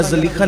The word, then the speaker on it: زلیخا: ہمارے بڑے علماء کرام اس کو زلیخا کہتے ہیں کہ اصل وہ زلیخا ہے، جو بھی ہے زلیخا یا زلیخا، لیکن اصل اس کا تلفظ زلیخا بتایا جاتا ہے.